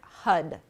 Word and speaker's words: har: simple we'll be chanting har h-a-r which sounds and is pronounced like hud hud hud h-u-d so there's a little flick of the tongue on the roof of the mouth there as we chant hud